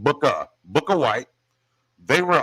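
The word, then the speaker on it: Bukka: that's bu bu kka I'm saying it right not Booker but Booka book of white they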